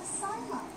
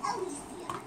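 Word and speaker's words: Elysium: go to this camp asylum. It's pronounced Alicia, and it means paradise.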